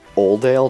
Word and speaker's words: Oldale: like that where um oldale town in the hoen region I always thought it was just oale town like no l at the beginning so I pronounced it Odell for the longest time and then we were